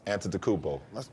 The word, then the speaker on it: Antetokounmpo: Pronounce Giannis's last name. Giannis Antetokounmpo.